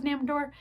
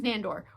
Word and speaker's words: Nandor: Did I say his name was Namor? His name is Nandor, which is amazing if